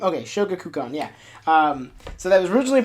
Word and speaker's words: Shogakukan: I always forget how to pronounce the name. Okay, Shogakukan, yeah.